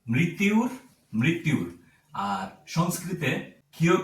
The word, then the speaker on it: মৃত্যুর: সেক্ষেত্রে এটির সম্পূর্ণ উচ্চারণ হবে মৃত্যুর। মৃতুর মৃত্যুর।